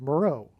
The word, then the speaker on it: Meroe: Moreau, which is spelled differently, but it sounds the exact same. And there is an ancient region of Kush, which is Ethiopia, named Island of Meroe.